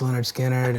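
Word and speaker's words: Lynyrd Skynyrd: like um Filmore East and uh pronounced yeah pronounced Leonard skinnard and second helping um and then later Robin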